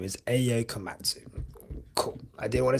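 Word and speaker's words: Ayao Komatsu: But the Haas team principal, his name is Ayo Komatsu.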